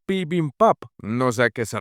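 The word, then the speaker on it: bibimbap: Luego se acerca a Oi y la prota le lanza el dato de que Bibin Bap en realidad se pronuncia Pin Pap, no sé a qué se refiere.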